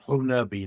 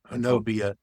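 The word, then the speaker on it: Honobia: It's a chalk word, but it's pronounced Honabi, not Hanobia.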